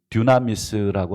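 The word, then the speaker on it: δύναμις: 그 단어의 어원입니다.이 듀나미스라고 하는 헬라오인데 발음도 비슷하죠. 듀나미스, 다이나마이트.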